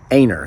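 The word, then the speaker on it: Enoree: northerners coming down here, town of Enor, South Carolina, or Aner, that's how you pronounce it.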